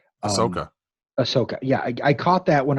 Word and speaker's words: Ahsoka: other exciting things now i'm pronouncing this wrong but it looks to me like a shakka but ahsoka yeah i caught that